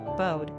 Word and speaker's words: Bo: Beauregard, Beaufort, Boniface, Bowden, Bode, Boris, Bonita, or Bonnie. Bo is also pronounced the same way as the French beau, meaning beautiful, or the Chinese character, meaning wave.